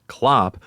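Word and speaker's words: Cl0p: a Russian ransomware group called c10p pronounced Klo took responsibility for the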